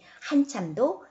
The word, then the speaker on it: 한참: 울었다 한참 울다 보니 한참도 장음이 아니라 다음입니다 한참 울다 보니 그것은